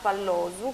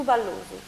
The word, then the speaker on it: Pallosu: La colonia felina è sita su Pallosu, che teoricamente in sardo dovrebbe pronunciarsi un po' diversamente. E la particolarità su Ballusu, una cosa del genere.